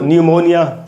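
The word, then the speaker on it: pneumonia: उसके बाद दोस्तों न्यूमोनिया, बुखार है, न्यूमोनिया, पी एन से शुरू हो रहा है, तो यहाँ पर पी साइलेंट होगा नियम के अनुसार।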